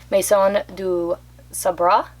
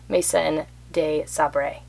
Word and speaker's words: Maison de Sabre: the smallest one is Mason D Sabra I think is how you say it if you're saying it in French all the Americans uh Mason de Sabre.